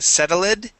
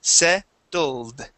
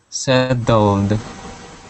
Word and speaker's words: settled: D instead of saying setted okay you had said setted okay uh we need to skip over that e that e is silent and we say settled okay settled there you go one